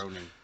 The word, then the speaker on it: Groening: Groening. It's like Matt Groening.